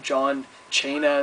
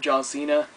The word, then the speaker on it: John Cena: his name wrong he called him John chaina instead of John Cena which is where Santino's